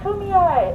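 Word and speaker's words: Kumeyaay: that's how i remember that's why i tell my kids it's kumi eye and if you say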